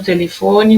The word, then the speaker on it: telefone: Telefone. É o fo.